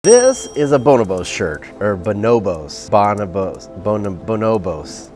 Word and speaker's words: Bonobos: - Thank you for calling the Bonobos Ninjas. - Bonobos, Bonobos. This is a Bonobos shirt, now I know how to say it.